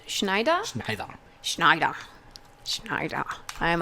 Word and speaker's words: Schneider: One was Alicia, and the other one was Snyder. Schneider. In fact, it's pronounced Schneider.